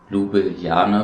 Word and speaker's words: Ljubljana: dass wir die Hauptstadt Ljubljana besuchen. Ich meine, so spricht man es aus, zu Deutsch Laibach, aber das hört sich ja wohl nicht so toll an.